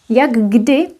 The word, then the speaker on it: jak kdy: Jak kdy would actually be pronounced with double G, because here we have d and then k. These are voiceless. D would influence both of them.